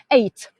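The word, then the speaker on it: eyot: They are called eight. It's pronounced eight, but we It's actually spelled AOT.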